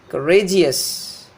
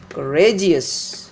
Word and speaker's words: courageous: that is nothing bad if you take this word courage courageous so the syllable that is before the suffix should be stressed before that here we